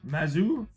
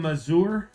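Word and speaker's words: Mazur: Adam Muser, Mazer, Mazour, Mazour, Mazour on At least it's on card on.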